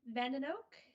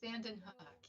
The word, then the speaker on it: Vandenhoek: So I'd like to introduce Ms. Vandenoak. Did I pronounce that right? That's very close. Vandenhoek, yeah. Vandenhoek. One of these days.